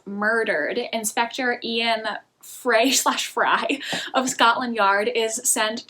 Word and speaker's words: Frey: novel by Oscar demerio actually I believe pronounced fry but I want to say Fray because I like that better and I kind of like how they rhyme I think that might be wrong though the first book